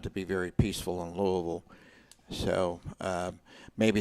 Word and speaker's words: Louisville: number 24 louisville at people say it's louisville no it's louisville if you're from the midwest and you're from that part that part of the country you know how to pronounce it people say well what's